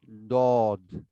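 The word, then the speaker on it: ض: হয় উনি ওভাবে বলেন আপনি জিহ্বার গোড়া উপরের তালুর ডান পাশের মাড়িতে লাগিয়ে দাঁতে লাগিয়ে অথবা বাম পাশে লাগিয়ে উচ্চারণ করব আমি ডান পাশে লাগিয়ে পড়ি দদ দদ আচ্ছা হ্যাঁ জি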